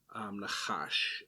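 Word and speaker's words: נחש: And that's interesting, but the root word for sorcery and the word for snake are actually pronounced the same, nachash.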